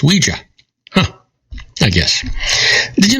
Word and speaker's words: Ouija: we only yes I I've always heard it pronounced Ouiji but it's Ouija huh I guess did you know that Muhammad